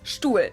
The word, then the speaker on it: Stuhl: in this list because I personally think that it sounds exactly like the German word Stuhl.